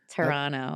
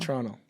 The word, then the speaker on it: Toronto: Whenever you Toronto, we don't pronounce the second T. Toronto. Toronto.